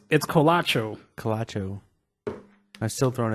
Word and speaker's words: Colacho: I'm still throwing a T in there, ain't right there. Like, I'm just gonna look that up real quick. How do you spell that one more time for me? COLA, like cola, CHO.